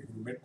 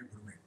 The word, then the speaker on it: gourmet: इसका pronunciation आप ध्यान रखेंगे, gourmet नहीं कहेंगे, gourmet.